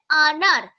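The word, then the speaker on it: अनार: হিন্দিতে বলছে আনার। কিন্তু দেখো এখানে আনার উচ্চারণটা আমরা অ উচ্চারণ কি করে করি? অ এর অজগর এরকমভাবে করি। তো আজগার এভাবে তো উচ্চারণ করি না।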